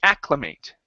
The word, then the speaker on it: acclimate: So it's an AC and then CLIMAT, okay, which is the same, and since it's a verb, we say acclimate.